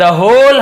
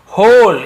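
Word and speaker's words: whole: औरत ने कहा, द होल हाउस is yours. अब देखिए उसने जो कहा यही मेन चीज है, होल, यहाँ पे डब्ल्यू साइलेंट होता है, होल बस पढ़ेंगे, लेकिन लिखते समय पूरा लिखना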